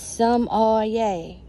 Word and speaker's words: sommelier: her book today is some oh yay the r is silent that's what she is is a sum lake yay some all yay somalia but anyway she